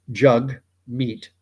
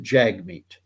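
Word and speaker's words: Jagmeet: meat Jag R uh jug rhymes with hug to help people pronounce it and uh my opinions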